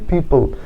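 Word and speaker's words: people: যুক্ত আছে তারপরে দেখো এই পি এর জন্য প এল এর জন্য ল শেষে ই অনুচ্ছারিত থাকবে তাহলে দেখো উচ্চারণ কি হচ্ছে পিপল পিপল মানে জনগণ বা মানুষ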